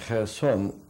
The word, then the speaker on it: Kherson: And Kherson, the name is Kherson. It's spelled Cherson on the black, on the Dnieper, near the Black Sea.